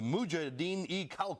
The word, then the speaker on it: Mujahideen-e-Khalq: Let me pronounce this right. The Mujahideen-e-Khalq, which means the People's Mujahideen of Iran.